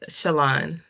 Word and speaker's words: Shalon: Shalon, Shalon. Like Chanel.